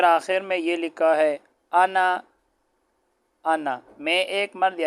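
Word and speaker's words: أنا: انا، یہ الف نہیں پڑھا جائے گا، یہ آگے کتاب کے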